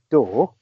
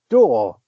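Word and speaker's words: Radcliffe: Daniel R no pet his surname is spelled D R so it's it's pronounced door but wonder you think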